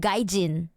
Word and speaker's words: gaijin: No, I think Mark, I think you meant gaijin. Gaijin. Like the way you spell it is so Russian though. It's actually romanized as gaijin.